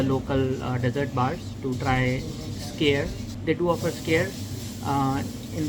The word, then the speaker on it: skyr: It's called Scare, but it's not like scare where you are scaring people. It is spelled as SKYR.